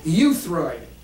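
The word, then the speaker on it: euthyroid: right in the middle how do you say that euid as in it's EU but you know you can you can use it phonetically as y u euid and that's the goal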